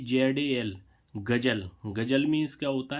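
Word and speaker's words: ghazal: ऐसे ही इसमें देखें जी ए जेड एल गजल। गजल मीन्स क्या होता है? गजल। तो देखो इसमें जेड का उच्चारण क्या निकला? ज। लेकिन यहां पर क्या आया? नुक्ता वाला ज।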